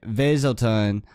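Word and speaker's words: Weselton: the production pronunciation of weaselton as wesselton when a german native would pronounce it veiselton the duke's german accent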